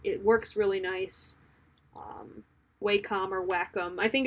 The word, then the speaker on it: Wacom: don't like it I don't like how it's pronounced I've always thought Wacom sounds more like a like a tech company but it's Wacom so Wacom w eh c om they're pretty